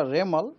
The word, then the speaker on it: Remal: बनने का बाद उनको नाम होगा रेमल रेमल प्रसन होगा रेमल उसका स्पेलिंग है आर ई एम ए एल रेमल यह नाम एक्चुअली वमन